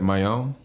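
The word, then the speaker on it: Myonne: You you pronounce that my own.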